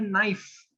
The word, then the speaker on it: knife: Because look at a word called knife. K is silent in knife.